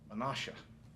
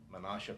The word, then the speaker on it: Menasha: how to pronounce it I think it's pronounced Menasha m-e-n-a-s-h-a Menasha packaging company it may be pronounced Menasha but I'll find out before we start saying